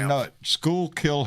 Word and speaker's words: Schuylkill: Schuylkill Haven is what I say, but it's skull.